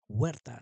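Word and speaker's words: Huerta: I'm gonna say that in Spanish the way it's said in Spanish. David or David. David Werta. That's how you say it in Spanish.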